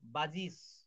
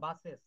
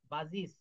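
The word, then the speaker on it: buses: যেমন বাজিজ, বাজগুলা আমরা বলি না বাসেস, নো, বাজিস। একজন আমেরিকান লোক বলবে আর সাম বাজিস। আমরা তো বুঝতে পারব না। কিন্তু এখানে বাসেস না বলে বাজিজ।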